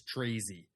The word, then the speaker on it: Tracz: Um, but long story short, I've never actually was told how to like correctly pronounce it but my whole life I've just been told that it's Trezzi.